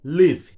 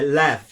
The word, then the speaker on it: LEW: que essas locomotivas seriam construídas pelo tradicional fabricante Liv. A Liv, cuja pronúncia correta é Lev, e cujo significado vai estar aparecendo aqui na